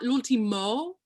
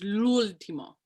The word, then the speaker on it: l'ultimo: Oh, when you sing the word l'ultimo, it's not l'ultimo, it's l'ultimo. So the accent is on the lulls.